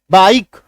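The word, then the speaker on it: bike: ठीक है, ये देखो जैसे बी आई के ई, आई है, बीच में एक कॉन्सोनेंट है यानी कि व्यंजन है, ए ई आई ओ यू को छोड़ करके सभी क्या होते हैं, व्यंजन होते हैं, कॉन्सोनेंट होते हैं, इसके बाद ई है। ठीक है, तो ऐसे केस में क्या करते हैं हम लोग, आकार की मात्रा ये वाला आ ई, बाइक, ये देखो बी आई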